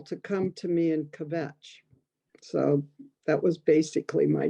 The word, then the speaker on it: kvetch: come to me and kvetch. So that was basically my job. Kvetch, not 2 syllables.